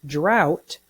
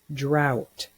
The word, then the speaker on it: drought: In the word drought, OUGH is pronounced ow. Drought. Say the word drought.